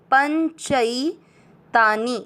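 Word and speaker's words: पञ्चैतानि: पहला चरण प के बाद में ये प के ऊपर बिंदी लगेगा पन। च में मिक्स करना च पर है आई की मात्रा चई। पंचई तानी नी की मात्रा छोटी है, लंबा नहीं खींचेंगे।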